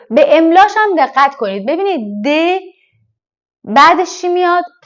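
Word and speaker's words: deux: املاشم دقت کنید ببینید د بعدش چی میاد ا پس میشه د خیلیا دیدم که ما ایرانیا البته چون شبیه دو خودمونه میگیم دو ولی دو اشتباهه تلفظ صحیح و درستش د عدد سه تخوا تخوا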